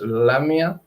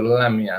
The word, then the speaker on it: lamia: Mia o L mía no tiene acento diacrítico en la i es lamia por eso la pronuncio lamia no eh decimos que